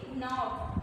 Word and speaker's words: knob: Example जैसे कि knob, देखिए इसमें KNOB लिखा हुआ है लेकिन हम लोग इसको क्या पढ़ेंगे? knob। क्या पढ़ेंगे? knob। जबकि लिखा है KNOB तो क्या हुआ? यहाँ पर आपका साइलेंट लेटर क्या हो रहा है? आपका लेटर के यहाँ पर साइलेंट है।